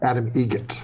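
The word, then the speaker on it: Adam Eget: How do you say the name? Adam Egget. Egget. Spelt differently. Like the bird. That's Egret.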